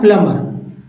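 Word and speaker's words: plumber: है प्लमर क्या है प्लमर तो आपको ये बी साइलेंट कर लेना है ठीक है बी को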